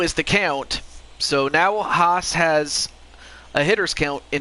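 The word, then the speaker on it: Haase: Oh, Haas. Okay, so that's how you pronounce his name.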